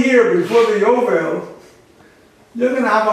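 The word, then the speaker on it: יובל: In Hebrew it's yovel. Ya is the j.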